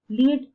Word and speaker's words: lead: For example, Lead can be pronounced as lead and led.